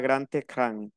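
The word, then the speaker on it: grand écran: Pour le cinéma, c'est la grande écran. Regardez, ça finit par D et je prononce comme T. Écran.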